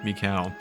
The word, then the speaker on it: Mikau: I've always pronounced it Maiku, I just realized how wrong I was, because that would be M-A-I-K-U, Mikau, of the Zora people, guitarist in the Zora band.